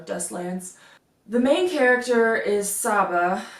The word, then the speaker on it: Saba: The main character is Saba. I'm pretty sure that's how you pronounce it. It could be Saba, it could be Saba. I say Saba.